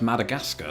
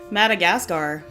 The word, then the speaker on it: Madagascar: For me this one is simply pronounced Madagascar. Where do you go with it? Madagascar. Madagascar. So that last part rhymes with NASCAR.